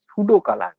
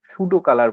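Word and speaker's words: pseudocolour: করার পর render type single band grey আছে, এটাকে ক্লিক করবে, দিয়ে তার ঠিক নিচটায় আছে single band সুডো কালার, PSEUDOCOLAUR, সুডো কালার বলে, পিটা উচ্চারণ হয় না, সিঙ্গেল ব্যান্ড সুডো কালার, এটার উপরে ক্লিক করতে হবে।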